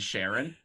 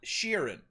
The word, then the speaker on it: Sheeran: name what is it sharon ed sheeran ed sharon no like sheeran so you're in like all right like yeah